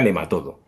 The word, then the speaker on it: nematodo: Bueno, respecto a la primera pregunta, que es básica, realmente se pronuncia nematodo en España.